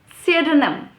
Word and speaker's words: pseudonym: me let's get started with the first word pseudonym serdinam okay see a denim it's not supposed